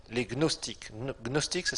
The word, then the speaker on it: gnostique: le numéro 1 les gnostiques gnostiques ça s'écrit Gnos des gnostique numéro 1 Gnos tiqûes gnostique la face est comme moustique mais là c'est gnostique c'est pas moustique Gnos t I Q